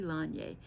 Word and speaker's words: Laine: I say laine because that's the French pronunciation for wool, but it's actually Lanye.